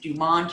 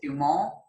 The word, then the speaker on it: Dumont: And we pronounce it Dumont here. I think you pronounce it Dumont.